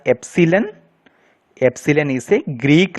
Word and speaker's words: epsilon: This is not an E, it is pronounced as epsilon.